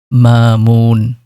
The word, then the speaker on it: মামুন: আজকের নামটি হলো মামুন এবং এর আরবি শুদ্ধ উচ্চারণ হলো মামুন।